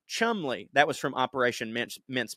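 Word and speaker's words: Cholmondeley: put this out and he says that chalmandli is pronounced Chumley that was from operation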